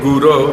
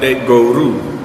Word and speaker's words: guru: I appreciate your sentiment instead of saying bund guru they were saying bund goru and goru means cow or an animal and he said, "I